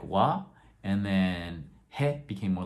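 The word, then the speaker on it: は: little bit more softened so ha became more like wah and then hey became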